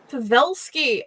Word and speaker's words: Pavelsky: It's pronounced Pavelsky, but you got close to it. Pavelsky, awesome.